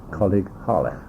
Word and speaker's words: Coleg Harlech: So it's colleague, and you spell colleague C-O-L-E-G, and Harlech, and it's called Harlech because that's the name of the town. It's in North Wales, and Harlech is spelled H-A-R-L-E-C-H, Colleague Harlech.